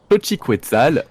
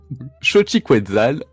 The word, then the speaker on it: Xochiquetzal: Xochiquetzal, la déesse Ah oui, aztèque.